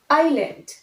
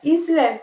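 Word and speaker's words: island: Pronunciation বুকে, বাট স্পেলিংটা একটু অন্যরকম, একটু beard. Next, আইল্যান্ড। Normally IS আমরা কি বলি ইজ, কিন্তু এটা ইসল্যান্ড নয়, it will be আইল্যান্ড, আইল্যান্ড।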